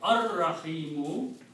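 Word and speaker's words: الرحيم: And when you pronounce it, will be ar-Rahimu, which is this word here.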